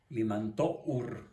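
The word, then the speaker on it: Limantour: francesa José it limantur se escribe ahí es limantó quién desde luego desempeñó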